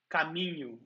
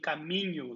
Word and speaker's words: caminho: And another one is the NH, like caminho, right? Saying caminho like this is very hard.